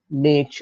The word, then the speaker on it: niche: ecosystems changing over time, niche, etc., etc. Niche is also called niche, okay, depending on how you want to pronounce it.